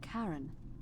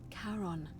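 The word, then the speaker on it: Charon: it's just as you described it only your pronunciation is a little off the name you heard wasn't Karen it was C h r o n as in Kon the Fairman of the Dead who in exchange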